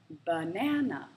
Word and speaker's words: banana: is the word banana banana the middle syllable is stressed in banana can you hear the